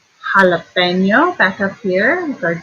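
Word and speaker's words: jalapeño: Jalapeno, back up here with our dig, and it's the H sound.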